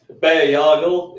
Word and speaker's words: Bayargle: Tell us about Bayargle. I am, however you pronounce his name, and his interesting powers of sucking the life force out of people. You're very close. So Bayargle is how I pronounce it.